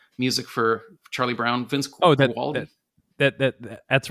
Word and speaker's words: Guaraldi: It's a piano, but that was actually by, I'm going to get his name wrong, Vince. Oh God, he did the Peanuts music for Charlie Brown. Vince Guaraldi.